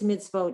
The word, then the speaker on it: mitzvot: Mitzvot, Okay, now, the reason it's mitzvot is because the mem has the eval, the chirik, the tzadi has a shva, mitz, that's the end of the syllable, and the vav, that little dot above it is a vowel. Here, the vav is a letter and the vowel is the dot. So it's not mitzvot.